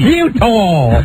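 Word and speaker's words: Eutaw: Utah. Oh, that's right down by the Inner Harbor. E-U-T-A-W. It's spelled Utah Street.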